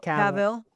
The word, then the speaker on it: Cavill: Henry Cavill was a good one. That's how you pronounce his last name, Cavill. Cavill.